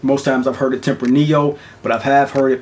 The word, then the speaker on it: Tempranillo: Like I said, this is a Tempranillo or Tempranillo, depends on how you do the double L sound. Most times I've heard it Tempranillo, but I have heard it pronounced Tempranillo.